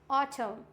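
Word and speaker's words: autumn: For example ऑटम, क्या होता है? ऑटम। एन तो नहीं पढ़ा हमने, इट मीन्स यहाँ पे हो जाएगा ऑटम।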